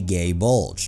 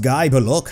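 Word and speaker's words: Gáe Bulg: His weapon is not called a gay bulge. Wait, really? It isn't? It's pronounced guy, but look, how can you commoners not know that?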